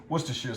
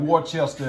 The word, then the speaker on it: Worcestershire: now pronounce that correctly Worcestershire sauce that's how you pronounce it and again what your uncle in there but I tell you about Worchester and all that that's